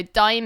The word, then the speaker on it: Daim: So Dime is spelled DAIM.